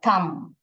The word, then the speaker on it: thumb: This is the thumb. Okay, thumb. We do not pronounce the B.